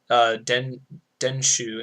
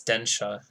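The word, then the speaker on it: 電車: They didn't put denshu in here. Or densha. Yeah, it's densha.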